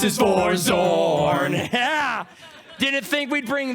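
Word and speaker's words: Xorn: And it's spelled with an X. Yeah. I bet all of you thought it started with a Z, Yep. didn't you? Nope. It's an X.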